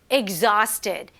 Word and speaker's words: exhausted: Exhausted. exhausted. 네, 이 발음이 조금 어려워요. 왜냐하면 X하고 H가 같이 붙어 있는데 exhausted이에요. exhausted가 아니라 exhausted.